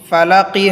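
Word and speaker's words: فلق: রব্বিল ফালাকি হয়তো কফটা লামের সাথে মিলে যাবে, কলকলার উচ্চারণ হবে, পাল্টা আওয়াজ দিয়ে পড়তে হবে কুল আউযু বি রব্বিল ফালাক।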